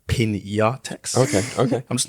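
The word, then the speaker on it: Piñatex: Aishwarya says that Pinatex... Hold on, wait, sorry. It's actually pronounced Pinatex.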